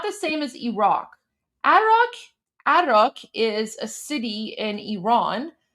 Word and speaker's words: Arak: They hit the Azara plant in Arak, which is spelled A-R-A-K. So A-R-A-K. Arak. That's what he's saying. It's Arak.